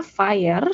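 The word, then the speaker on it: FHIR: Dibacanya fire seperti eh api dalam bahasa Inggris gitu ya.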